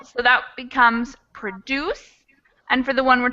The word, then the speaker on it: produce: Or if we go back to the beginning, we've got produce. Produce gets the stress in the beginning of the word.